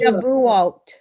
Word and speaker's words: Shavuot: How do I pronounce it again? Shavuot.